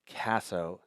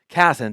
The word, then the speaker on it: Casson: We have Danny Casso. That's pronounced the last? Casson.